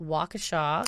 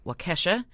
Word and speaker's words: Waukesha: take this time to apologize for pronouncing it wakesha although just such a huge kesha fan we really think that she should have her own city and we're offended that it's not pronounced that way but it was a